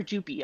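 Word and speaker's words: Jupe: well especially in movies pronounce like scoop jup okay um so uh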